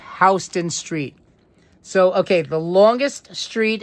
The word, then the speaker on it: Houston Street: We do not say Houston Street. No, no, no. We pronounce it Houston. It is pronounced, and I am saying it correctly, it is pronounced Houston Street, not Houston.